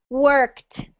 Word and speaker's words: worked: one there Margaret work worked worked worked worked so work with a little T at the end worked worked worked worked